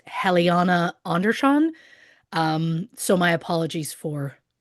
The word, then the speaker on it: Helena Andersson: about today's episode, um I pronounced the name as Helena Anderson, based solely on how it was is spelled and based on the fact that I'm an English speaker. Um I have since learned, of course, the name is pronounced Heliana Anderz John.